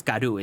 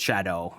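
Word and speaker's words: Scadu: fragment or I guess scadoo is supposed to be pronounced shadow in the old English or whatever, but skyoo is funnier for me.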